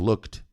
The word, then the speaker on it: looked: Mas essa letra E não é pronunciada. É I have looked. Looked. Looked. Você pronuncia o K e depois o D.